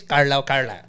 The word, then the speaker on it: Carlisle: It is Carlisle. Rick Carlisle. Anyway, no matter how you pronounce it, Rick Carlisle, he won with the Mavs 2011.